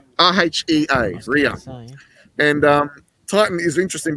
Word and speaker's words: Rhea: We've got Titan here, and just down here, this little faint little one, is Rhea. R-E-H-A, is it? I forget how it's spelled. R-H-E-A, Rhea.